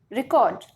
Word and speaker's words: record: Next is, and if we will shift the stress second syllable, then it will be record.